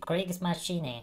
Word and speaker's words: Kriegsmaschine: Why you don't react to Kriegsmaschine? I think that I pronounced well. I checked on Google Translator and the bitch said Kriegsmaschine. So I guess it's right.